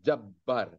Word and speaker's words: Jabbar: yaohar ya Az ya cara baca-baca Arabnya Jabar atau Jabbar Jabar Jabar koharnyaohar atau Qohar